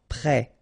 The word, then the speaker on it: prêt: Final T not pronounced. E accent circonflexe like that phonetically gives you the E sound. Prêt.